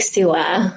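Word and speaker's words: Suwa: How do you pronounce it? Yes, Lake Sua.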